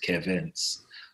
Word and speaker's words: Carvens: And I believe my name was supposed to be Kevin, but the way you pronounce Kevin in Haitian Creole is Carvens.